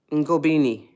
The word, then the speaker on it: Ngobini: Oh, thank you, Timothy Ngobini. I think I pronounced that correctly. It's a soft N sound.